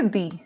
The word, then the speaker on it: the: तो वाउल अगर आ रहा है तो इसको हम बोलेंगे दी, और अदरवाइज कोई कॉन्सोनेंट साउंड आ रहा है तो हम बोलेंगे दा।